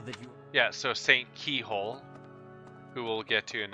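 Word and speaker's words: Cichol: I'm going to quickly talk to him and get the pronunciation again. Inside the cathedral, Saint Indek, Saint Macule, Saint Keyhole. Saints. Now that you... Yeah, so Saint Keyhole, who we'll get to in a bit.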